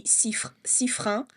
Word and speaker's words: Sifrin: And I'm like, so the right way to say it would be Sifrin.